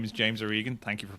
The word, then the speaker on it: James Organ: Well, my, as you said, my name is James Organ. Thank you for pronouncing it correctly.